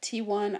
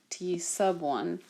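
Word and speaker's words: t₁: to it is t1 you might have a professor that might basically chop your head off and eat it for lunch if you don't say it correctly it is actually said to sub one it's because i've taught high school forever and i've gotten used to people just calling it t1 and i should not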